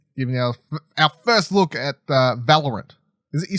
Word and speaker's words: Valorant: All right, talking about esports stuff, let's talk about Riot's games, giving our first look at Valorant. Is it? You said that's how you say it, right? Or Valorant? Valorant.